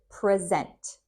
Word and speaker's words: present: So you just hear different emphasis on the words where you put the emphasis. Here you put it on the second syllable. Present. Present. Present. And here you put it on the first syllable.